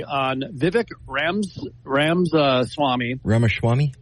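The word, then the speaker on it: Ramaswamy: out a story on Vivic Rams Rams Swami ramaswami how ramas Swami thank you I always feel bad when I mispronounce his name and I have from the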